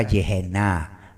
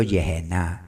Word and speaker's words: Yehená: Él pronunció la palabra Yehená, no pronunció infernus, pronunció Yehená.